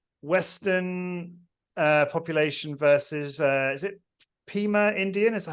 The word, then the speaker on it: Pima: But it's a graph where you've got Western population versus is it Pima Indian? Is that how you say it? Pima.